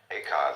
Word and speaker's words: Eka: Bodhidharma had a pupil by the name of Eka, Huike in Chinese. Eka is Japanese pronunciation, like Zen is the Japanese pronunciation of the Chinese Chan.